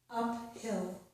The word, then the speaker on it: uphill: So again, this is uphill. The PH does not make the F sound.